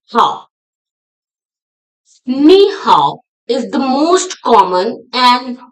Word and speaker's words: 你好: Ni, ni is pronounced with the third tone, low and then rising.